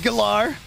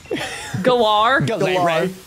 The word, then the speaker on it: Galar: reason to correct you on that all right galar galar listen listen little miami whiny junior boonier here